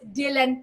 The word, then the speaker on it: DLN: So ang spelling po niya ay DLN pero pronounced as Dylan po siya.